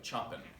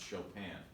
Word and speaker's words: Chopin: and now we've got Frederic Chopin looks like Chopin but it's pronounced Chopin Chopin only lived to be 39 years old in